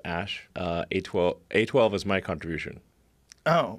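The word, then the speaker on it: Æ: The AE is, like, pronounced Ash.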